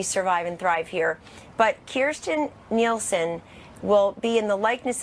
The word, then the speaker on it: Kirstjen Nielsen: First of all, I serve with General Kelly, and I serve with Kirstjen Nielsen. That is her name. Everybody ought to learn how to pronounce it because she's about to be our